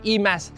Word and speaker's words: e.Mas: It's the EMAs 7 and that's EMAS, not which is the Malay word for gold.